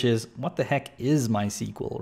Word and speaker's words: MySQL: It's here and welcome to my tutorial series on MySQL or actually rather my SQL because that is how it's pronounced. It's pronounced my SQL, not MySQL, but I'm one of